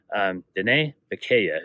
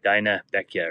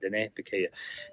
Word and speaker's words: Diné Bikéyah: Diné Bikéyah is how you pronounce it. It looks like Dinah Bekia or something like that, but Diné Bikéyah.